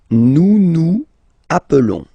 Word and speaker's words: nous nous appelons: Nous nous appelons. Okay, so I will make the liaison.